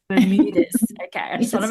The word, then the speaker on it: Bermudez: How do you actually pronounce it properly? Yeah, it's okay. It's Bermudez. Bermudez.